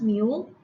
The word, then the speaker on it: mu: 12 letter of the greek alphabet which is pronounced mu this is the symbol and this one denotes